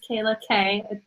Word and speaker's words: Kayla K: But I'm here with one of my good friends, Kayla K. It rhymes.